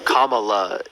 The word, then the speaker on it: Kamala: and by the way it's kamla Harris well maybe I don't speak the same I don't pronounce my words the way you don't judge me on that well Kamala is is not difficult for you to say is it no neither is nachos